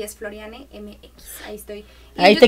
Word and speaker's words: Florianne: tal cual De hecho mi nombre es pronuncia así tal cual floriane Val con v a